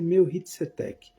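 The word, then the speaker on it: Melquisedeque: Abraão encontrou um personagem bíblico muito, muito falado, inclusive no livro de Hebreus, que é chamado Meukizedec. A pronúncia é Mehitzetec, mas eh tá escrito Meuquizedec, que era rei de Salém e era sumo sacerdote do Deus Altíssimo.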